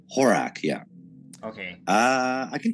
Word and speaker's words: Horak: and how do you say your last name horak horak horak yeah okay uh i can tell you about